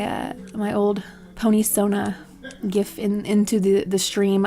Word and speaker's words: GIF: this this uh this gift I pronounce it gif cuz that's it's graphic interface it's it's G um so this GIF